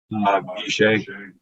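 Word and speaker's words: ישי: So, What's the pronunciation of Jesse in the Hebrew? Yeshay.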